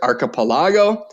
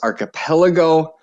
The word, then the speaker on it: archipelago: I pronounced it archipelago. It, I believe, is correctly pronounced archipelago.